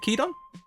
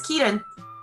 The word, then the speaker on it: Keaton: Is it Kedon? I guess. This is the random. This person, this gummy's name is Keaton.